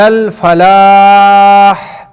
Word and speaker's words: الفلاح: چشمہ والا نہیں ہے، یہاں پر جو ہا ہے آخر میں فلاح کے آخر میں ہا یعنی بڑا والا یعنی ہا ہے، تو یہاں پر کیا ہے؟ ہا کو تلفظ ہونا چاہیے۔ حی علی الفلاح، اگر